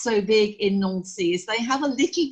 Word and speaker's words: Nancy: Looks like Nancy, pronounce it Nancy, which is the capital of Lorraine.